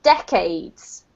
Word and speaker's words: decades: this word here is decades okay duck it beckons yes correct so the emphasis here on the first syllable okay thank you more